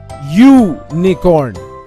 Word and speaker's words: unicorn: of the word unicorn here the vowel you has a consonant sound or the sound of the letter Y we say you Nikon we use uh before